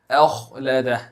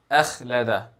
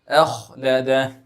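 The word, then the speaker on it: أَخْلَدَهُ: Now in this verse, pay special attention to the kha. أخلده. Since kha is a heavy letter, and this is very often missed by people when they pronounce a kha with a sukoon, they just say it as أخلده. أخلده. It is أخلده. There will be an elevation in the back part of your tongue.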